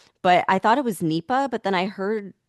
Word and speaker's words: Nipah: I was just thinking I'm just going to call it NEPA because I just I looked it up. It's weird. Yes, because we always mispronounce So, I looked it up and it was Nepa.